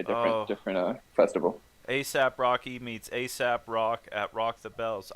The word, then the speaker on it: Aesop: different asap rocky meets asap rock at rock the bells i noticed asap rock's name that's spelled a-e-s-o-p instead of ac yeah like ace like aesop's fables which is you know